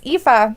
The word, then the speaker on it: Aoife: that's why I looked it up, because yes, Aoife.